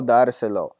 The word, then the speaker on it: dárselo: Quiero dárselo. Now, because I've added two syllables here, now my natural accent is on my second to last syllable because it ends with a vowel.